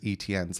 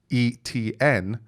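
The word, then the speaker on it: Etienne: so no i haven't really ever heard travis etn's last name so me being dyslexic growing up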